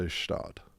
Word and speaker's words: Gstaad: I think you put the spelling completely out of your mind and just say Schtaad.